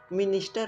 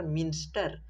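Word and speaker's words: minster: मिनिस्टर नहीं यार, मिंस्टर, spelling एक बार देख लो, हम भी इसको मिनिस्टर लिखते थे।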